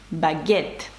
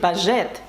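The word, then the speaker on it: baguette: щоб е не заважало Бо якщо не буде и то ми маємо сказати бажает і це не наше слово це не те що нам треба сказати багет і щоб Ґ звук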